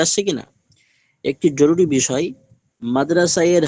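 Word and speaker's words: مدرسہ: যে হাটা আছে উর্দু থেকে লেখাতে হবে তবে উচ্চারণে আসবে না মাদ্রাসা মাদ্রাসা মাদ্রাসা হালকা করে মাদ্রাসা এ হাটা আসছে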